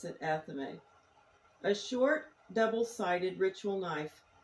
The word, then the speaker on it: athame: Athame, some people pronounce it athame. I pronounce it athame.